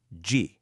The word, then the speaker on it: 旗: This character is pronounced G in Korean, and G refers specifically to a military flag.